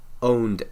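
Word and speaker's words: pwned: called have I've been owned calm but Owen spelled with the P now I'll link it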